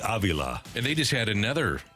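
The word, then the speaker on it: Avila: god oh man and it's Robbie Aila by the way that's the correct pronunciation Robbie Aila and they just had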